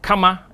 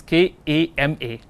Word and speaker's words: Kama: k a r m a people know sometime pronounce it as Kama in Sanskrit we have Karma and we have Kama Kama which is K A M A is pleasure meaning pleasure so we have Kamas